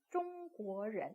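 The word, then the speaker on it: 中国人: 네, 中国人 이렇게 읽죠. 그래서 1성, 2성, 2성, 中国人 읽습니다.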